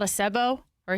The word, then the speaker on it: Sebo: I think it's called a SEBO or a SIBO. I don't know how to pronounce it. How do you spell it? S E B O. S VO or BO. B is in boy.